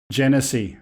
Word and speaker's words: Genesee: know if I'm going to pronounce this correctly, Genesee County to cease enforcement of their unlawful drone ordinance. How do you say it? Genesee, okay.